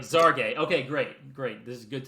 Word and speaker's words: Xargay: I was looking up how to pronounce Breanna Stewart's wife's last name, because it's Xargay. I was like, it's Spanish. Is it a Z or is it a H? That feels very much to me like the Elon Musk Grimes child's name. But so I'm looking it up. I'm like, okay, WNBA did put out a press release with the pronunciation ZAR-GAY.